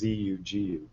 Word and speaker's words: sugu: Mark randazza clarified that from where they're from in Sicily that part of Sicily it's Zu it would be spelled phonetically I guess zuu gu but normally it's s o gu or item but well rot